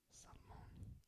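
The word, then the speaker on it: salmón: Salmon is going to be salmon. Accent on the O.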